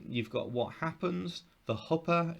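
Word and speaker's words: chuppah: So you've got what happens, the huppa, it looks like chuppa, but it's pronounced huppa.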